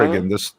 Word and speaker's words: Oregon: Oregon, the state is or a gun, Oregon.